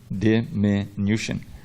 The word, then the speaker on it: diminution: Notice the pronunciation, diminution.